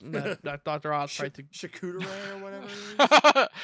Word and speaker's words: charcuterie: Oz tried to charcuterie or whatever it is. It's pronounced charcuterie, okay?